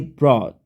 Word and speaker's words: brought: Sama, ini brought, ini UGH-nya nggak usah dibaca.